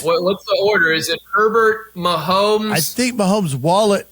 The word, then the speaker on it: Herbert: Well, and Herbert, it rhymes with pervert.